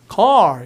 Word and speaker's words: car: R 발음을 굉장히 세게 합니다. 미국 사람들은. 그래서 발음이 우리처럼 카가 아니라 car 이렇게 깊게 하겠죠. 그래서 실제로 보면 R 발음이 되게 커져요. 저 car. 그러니까 혀를 더 꺾어야 돼 이렇게.